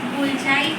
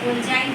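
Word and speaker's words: Golgi: या गोल्जाई बॉडी भी कह देते हैं, कई लोग इसको गोल्जी बॉडी कह देते हैं, कुछ भी ले लो इसका नाम, but spelling should be same.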